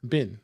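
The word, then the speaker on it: Bihn: The Tom, how do you say is the last name Bean? Bin. Okay.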